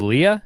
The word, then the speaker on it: Leigh: your name name wrong so your name is Leah is that right that's what they said